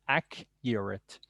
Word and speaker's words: accurate: you the akka europe ack uret the true pronunciation is ak uret i cannot give you